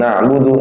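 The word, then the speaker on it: نعبد: Na'budu ya satu harakat sifatnya. Na masih jalan artinya masih jalan. Na bunyinya kayak gitu. Enggak boleh na'budu makhrajnya benar tapi tidak dipakai sifatnya. Cuman na'budu na'budu jangan cepat-cepat ya.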